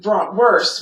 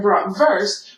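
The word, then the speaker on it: Bratwurst: letters such as w w is pronounced with a V sound let's take brought worse which is how most Americans would say it and BR verse which is how Germans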